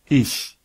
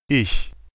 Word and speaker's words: ich: Une prononciation qui vient après A, O, U, AO se prononce R. C'est un bruit de gauche. Par exemple, Ach. Auch. Doch. pour toutes les autres combinaisons, c'est ch. Par exemple, Ich. Euch. Echt.